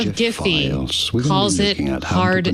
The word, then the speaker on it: Giphy: Because that's a company name. And the guy who founded it says it's Giphy.